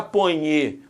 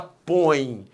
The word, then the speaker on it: põe: Você não fala ponhe, a janta aqui, você fala põe. Você fala põe, a força tônica está no o O é a vogal, o E é a semivogal, o ditongo é decrescente.